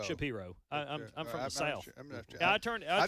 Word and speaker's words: Shapiro: Shapiro or Shapiro? Shapiro.